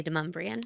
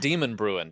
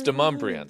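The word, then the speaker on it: Demonbreun: Like, you can't live in Davidson County if you can't say Deumbrian. That's exactly right. It's not Demon Bruin down downtown. It's Deumbrian.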